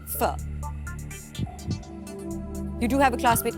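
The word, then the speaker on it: Phở: Stephanie's a type of Vietnamese soup pronounced fur you do have a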